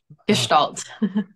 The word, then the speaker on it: Gestalt: how to pronounce this is it guest salt Gestalt oh okay so talk to me